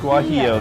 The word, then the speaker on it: guajillo: how do you pronounce it guajillo guac guajillo the l's are silent that's right is there anything